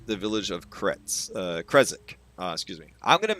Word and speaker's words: Krezek: So Krezek is how he pronounces it. So that's how I'm going to pronounce it.